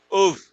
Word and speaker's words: have: What would you have done? The have is pronounced like an of.